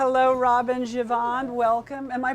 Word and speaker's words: Givhan: Robin Givhan, welcome. Am I pronouncing it correctly, Givhan? You pronounce it like my friend Jeffrey. It's Givhan.